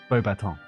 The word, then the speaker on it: Beauxbatons: No, you're close, but it's French, so it's Beauxbatons.